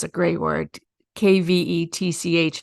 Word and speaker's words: kvetch: Kvetch, phonetically kvetch. It's a Yiddish word.